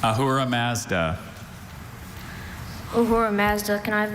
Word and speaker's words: Ahura Mazda: I have Ahura Mazda, Ahura Mazda, and Ahara Mazda.